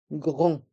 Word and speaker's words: grand: Un grand magasin. Un grand magasin. Dans le mot grand, le D est muet et les lettres A et N font le son en. Grand.